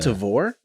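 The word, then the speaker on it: Tavour: you were talking about it's called devore i think that's how you pronounce it t-a-v-o-u-r okay um it's like you buy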